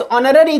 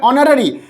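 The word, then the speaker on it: honorary: Next, mister John is dash ऑनररी chairman, see here ऑनररी है ना, H silent हो जाता है, सो वॉवेल साउंड से एन ऑनररी चेयरमैन।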